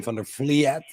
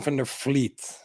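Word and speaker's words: van der Vliet: i'm sorry about that it's normally uh english people or american people say van der fliet but it's from the fleet but fliet is good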